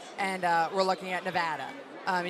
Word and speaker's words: Nevada: Um, and you have to make sure you pronounce that right. Nevada. Nevada. Not Nevada. Nevada. No, it's Nevada. Um they will they will definitely go after you for that one.